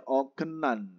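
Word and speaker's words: 어긋난: apa yw nan hengong sebenarnya itu bacanya ogenan karena apa ada siot atau baimte ketemu dengan n Nen bacanya gimana Berarti ogen ogenan yw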